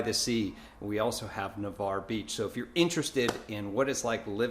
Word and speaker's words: Navarre: if you've been looking into Navarre it's actually pronounced Navarre not Navarre I've heard a lot of people make that